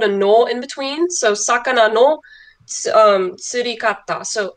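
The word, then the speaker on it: 魚: So if you notice, sakana by itself is pronounced sakana, but when that kanji gets added or slapped onto another kanji, it can sometimes change its sound. So for example, it turns into gyo.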